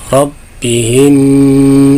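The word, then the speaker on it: ربهم: Nah, ini hati-hati jangan sampai mantul biizni, ya, biizni rabbihim, ro-nya tafhim tebal, rabbihim.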